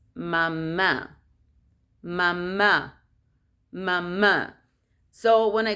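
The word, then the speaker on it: mamá: the last a um because the common english word is papa papa but in spanish it's not papa in spanish is papa or is not mama is mama because it has a little the little accent in the last a so mama the papa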